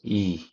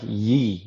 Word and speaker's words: Yi: little story here because my last name, YI, is actually pronounced E. E. So, it's E. But YI is like Yee or Yai to most people who don't know.